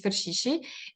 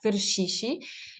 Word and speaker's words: Ferchichi: um among them myself my last name is fishi that that's how it's pronounced in in in not in the English way in the French way it's not like fi it's like fishi and I'm among those